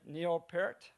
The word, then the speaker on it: Neil Peart: Am I pronouncing it right? Neil Peart?